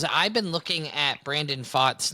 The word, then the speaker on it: Pfaadt: Could be an older message, but when Brandon Pfaadt and Landon Knack faced against each other. It's two guys whose names begin with a silent letter.